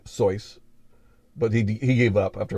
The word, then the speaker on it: Seuss: though i do have two bits of information uh dr seuss pronounced at his name soyuz but he gave up